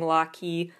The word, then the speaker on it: Locky: fandom name before being locky lock and key but pronounced like Rocky but it's spelled locky which is fine but